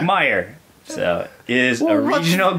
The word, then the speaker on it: Meijer: Meyer, pronounced Meyer, the one that you said major, whatever. What? Was this on the last episode? Yeah, it's M-E-I-J-E-R. Oh, yeah. It's like, Meyer.